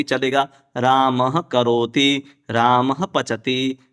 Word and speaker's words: रामः करोति: मतलब प्रभु जी इसका प्रोनाउंसिएशन राम करोति होगा। हां राम करोति रामच राम पचति राम पचति रामः करोति नहीं होगा सामान्य व्यक्ति है ऐसे